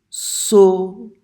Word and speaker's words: sauront: You have to watch my lips for this one. Ils sauront. In English, we don't have to stick our lips out like that. Ever.